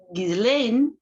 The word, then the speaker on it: Ghislaine: Um, I guess I'm going to start a new playlist this time for the Gizlin. Gizlin. See, for me in in French, it's Gizlane, but I everybody gain.